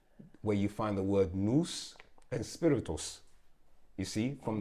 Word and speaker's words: nous: N-O-U-S, Oh, nous. Yeah, moose. nous, yeah. I see with an I N.